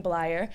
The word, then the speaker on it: Bleyer: I'm really excited today to introduce our speaker, Bleyer. I was calling him, and he told me it was Bleyer, and it rhymes with liar, so I got it down.